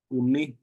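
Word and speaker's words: umme: You can just spell it U-M-M-E, umi.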